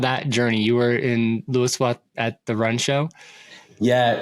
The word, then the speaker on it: Louisville: Yeah, so it's called Lowville, is how you pronounce it. I know. So I live in Louisville, Colorado, and I lived in Cincinnati years ago, and so I'm very familiar with the Lowville pronunciation. But in Colorado here, we pronounce it Louisville, so that sort of just rolls off my tongue.